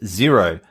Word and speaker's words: Xero: Australia, and that is Xero, spelled with an X, Xero.